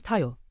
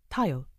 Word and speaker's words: Tayo: was more golden than brown my name is Tao t a if you like yes Tao aay you pronounce it well he smiled liking the fact